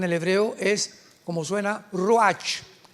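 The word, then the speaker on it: רוח: Apunta la palabra espíritu en el hebreo, es como suena, ruach, R de Raúl, U-A-C-H. Pero la CH en el hebreo se pronuncia como J, ruach.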